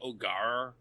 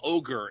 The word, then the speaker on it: Ogier: It should be like Ogar, but like I can't do that without sounding like a pirate. I feel like if you just call them ogre, it's too much.